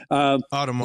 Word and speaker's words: Audemars: I can't pronounce it. French name, AP. Audemars.